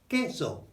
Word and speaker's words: queso: But that is always a K sound, never a Qu sound. So like queen, no, it's K, full stop. Nothing more, nothing less. So cheese is el queso, queso. It's K.